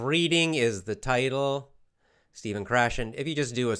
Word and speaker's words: Krashen: reading stephen krashen Stephan Stephan chrétien Steve we pronounce stephen stephen krashen it's but it's it's his name is spelled